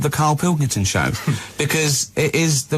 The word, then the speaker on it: Pilkington: Just the Pilkington. They can't say it. I don't know what's wrong. It's so easy. It's spelled as it looks.